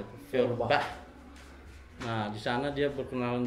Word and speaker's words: Feuerbach: Dia masuk ke sana, dia berkenalan dengan Feuerbach, bagaimana cara pengucapannya itu? Feuerbach.